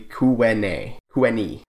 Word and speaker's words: Tyuonyi: I call it the Galisto Basin when it is the Galisteo Basin, as well as Tyuonyi is actually Kuweni.